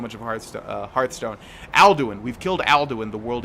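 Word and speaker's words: Alduin: oh my God it's it's andwin and then it's aldwin aldwin yeah they always screw me up because we played so much of Hearth uh Hearthstone aldwin we've killed aldwin the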